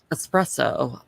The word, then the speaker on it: espresso: budget is basically the espresso machine budget and now you're saying it wrong and now i'm annoyed espresso i don't drink coffee